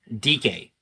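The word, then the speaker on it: Dike: DK. Yeah. As it turns out, his name is pronounced DK.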